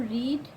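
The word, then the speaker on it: read: तुमने अपनी पुस्तक पढ़ ली है have you रीड your book तो have you रेड your book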